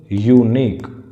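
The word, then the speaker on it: unique: Okay, यूनिक की pronunciation किससे शुरू हो रही है, यू से. और यू क्या है, एक व्यंजन है, स्वर नहीं है, व्यंजन है.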